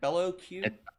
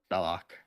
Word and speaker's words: Bellac: How to say your name? Is it Bellow Q or is it Bellac? Bellac. Belock. Yeah, I've been saying it wrong the entire time. Appo is saying Bellow Q and it made me question myself.